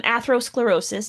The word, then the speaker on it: atherosclerosis: against, you know, the athethero athethero um atherosclerosis is how you say that.